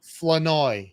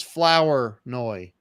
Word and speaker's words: Flournoy: Flanoy. I Flanoy. used to think it was Flower Noy. I'm like, dude, why don't you take out the OUR and put in an A?